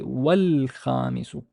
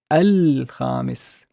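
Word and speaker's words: والخامس: Compare, if I remove this wow, I would pronounce it as al-khamis, al-khamisu. But if I put the wow, it's wal-khamis. Notice there's a skip of the sound.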